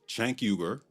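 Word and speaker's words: Cenk Uygur: itself specifically their leaders Chank Yuber that's how the founder of TYT, Chanker, pronounces his name, by the way, and the self-labeled politically homeless Anakasparian.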